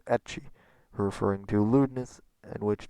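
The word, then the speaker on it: ecchi: forth the observation that term hentai found itself sort shortened to h and that the english pronunciation was etchi referring to lewdness and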